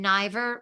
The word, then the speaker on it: Niver: name ner and ner rhymes with diver n i v r on all platforms on